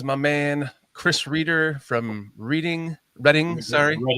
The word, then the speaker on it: Reading: Bruha 7, Relentless Mikey, Rick Gonzalez, my man Chris Reer from Reading.